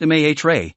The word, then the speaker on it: mare: The dark areas are known as mare, pronounced mare, which is the Latin word for seas.